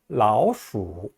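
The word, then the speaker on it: 老鼠: 아까 호랑이를 할 때처럼 라오자를 하나 붙여서 라오수, 라오수라고 얘기합니다. 수가 원래 제3성인데요. 라오수 할 때 수는 좀 다소 약하게 발음됩니다.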